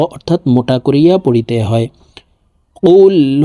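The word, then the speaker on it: قل: সূরা ইখলাস মক্কায় অবতীর্ণ হয়েছে বিসমিল্লাহির রাহমানির রাহিম কুলহু আল্লাহু আহাদ আল্লাহুস সামাদ প্রিয় দর্শক আমি বানান করে আপনাদেরকে বলে দিচ্ছি আপনারা আমার সঙ্গে বলে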